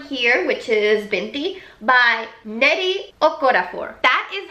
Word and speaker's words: Nnedi Okorafor: the first one here which is binti by nnedi okorafor that is how I saw her say her name is pronounced on Twitter oh I'm really hope that